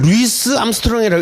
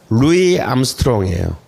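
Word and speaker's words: Louis Armstrong: 근데 저걸 루이스 암스트롱이라고 읽으면 안 돼요. 루이 암스트롱이에요. 그러니까 이것도 뭐예요, 그죠? 이 이름도 프랑스 방식으로 읽어야 되는 거예요.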